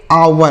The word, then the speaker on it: hour: HOUR, तो इसे पढ़ेंगे आवर। क्या पढ़ेंगे, आवर। यहाँ पर भी एच साइलेंट है, मतलब हम एच को नहीं पढ़ेंगे।